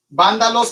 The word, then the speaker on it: vándalos: Vándalos con B chica y acento en la A. Palabra esdrújula, vándalos, ostrógodos, sin H.